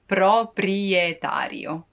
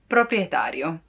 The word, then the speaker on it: proprietario: say but it's also kind of satisfying to pronounce it proprietario proprietario the owner while you the tenant would be